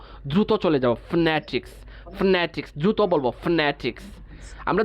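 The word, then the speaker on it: phonetics: যেমন দেখেন ফনেটিক্স, আমি নতে একটু ছাপ দিয়ে উচ্চারণ করছি, ফনেটিক্স, ফনেটিক্স।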